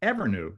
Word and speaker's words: Evrnu: Stacy Flynn she's the CEO and co-founder of ever that's spelled EBR nuu ever is a textiles Innovation